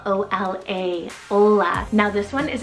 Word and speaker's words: Ola: meaning estate ruler then I have Ola spell o l a Ola now this one is a Norwegian and